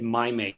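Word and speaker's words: Mim8: So Novo Nordisk, they're pronouncing it Mimate. I think it looks like Mimate, but we'll go with Mimate.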